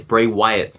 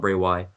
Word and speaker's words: Wyatt: pronouncing his name wrong it's Bray Wyatt not Bray Why what about BR W